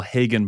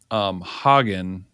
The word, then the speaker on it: Hagen: But if you want to call him Hagen or Hagen, I have been told by Guatemalans that it's not the way you're pronouncing it. It's the other way, like you say, hey, like what horses eat.